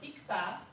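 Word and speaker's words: 읽다: Here it was ikta because it is followed by, if it was only this thing, it will still be ik. You get ik, not ilk.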